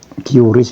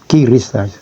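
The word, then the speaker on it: QRIS: itu ya seperti itu kuris itu kiris bacanya Ya kalau di bank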